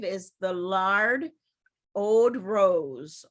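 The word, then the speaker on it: oud: Also new products and free offers in campaign 5 is the Lard Ode Rose. Ode, I think is how it's pronounced, O-U-D.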